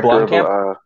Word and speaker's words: Blomkamp: I would honestly like to put in, if possible, and I can't remember to pronounce this guy's last name, but it's Neil Blomkamp, I think. Neil Blomkamp.